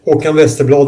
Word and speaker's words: Håkan Westerblad: Håkan Westerblad. Am I pronouncing that right? Yeah, almost. Håkan Westerblad in Swedish, but that's very difficult to say if you're not from Sweden.